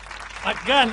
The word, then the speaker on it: McGann: Por favor, reciban con un fuerte aplauso a McGann. Ay, es que nunca pronuncié un apellido como, bueno, sí, McCarthy. O McDonald's, ahí está, pero es McGann. Es McGann, es ascendencia irlandesa.